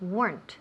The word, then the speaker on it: weren't: So, repeat weren't. weren't Perfect. Again, weren't. weren't Excellent. The whole sentence. If only he weren't my boss. Very good. If only he weren't my boss. Una sílaba. Weren't.